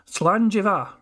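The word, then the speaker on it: Slàinte mhath: Slanjiva. I would never have guessed Slanjiva was the way to pronounce those last two words, but I do appreciate the education, thank you very much.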